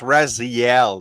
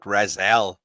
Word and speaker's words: Raziel: Hey, it's Raziel, not Razel. Is Raziel. I'm pronouncing it in Hebrew.